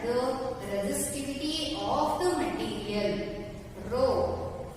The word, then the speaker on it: rho: Rho, we have to pronounce this as like this, rho or HO, rho, and that is represented